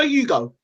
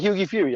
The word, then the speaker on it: Hughie Fury: Hughie Fury. Did I say his name right? Hughie Fury? Hughie Fury. Hughie Fury. Hughie. Hughie. No Hugo. That's what I said, Hughie Fury. I said Hughie Fury, right? Yeah.